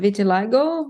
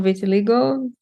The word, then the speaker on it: vitiligo: the other one is called Vitiligo or Vitiligo depending where you are how you pronounce it but um yeah so